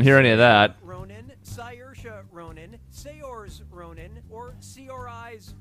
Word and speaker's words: Saoirse: Saoirse. Oh my god. I went with how I used to pronounce it.